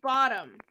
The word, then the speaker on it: Bodom: Lake Bottom. But it's spelled Bodom.